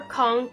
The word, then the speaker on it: conch: we're talking about the queen conch or conch um I've heard it pronounced both words that I've always called it a punch so that's what I'm gonna call it so I'm sure most